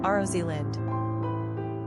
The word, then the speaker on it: Rosalind: Pronunciation, Rosalyn.